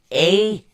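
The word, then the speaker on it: Ehwaz: Ewas is spelled E-H-W-A-Z. It's pronounced A-Y-W-A-H-Z.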